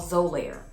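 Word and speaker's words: Xolair: daily basis is called zolair x-o-l-a-i-r the x is pronounced as a z but this is the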